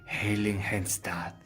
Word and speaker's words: Heiligenstadt: A ese pueblo, que es un nombre difícil, se pronuncia Heiligenstadt.